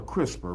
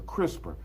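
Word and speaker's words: CRISPR: It's a crisper, right? And I'm not talking about the thing in the refrigerator. So, move away from the refrigerator. All right. It's not that. It's spelled C R I S P R.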